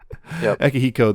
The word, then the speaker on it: Akihiko: Man, Akihiko. I keep trying to add an extra syllable in there. That's not necessary. Yep. Akihiko there.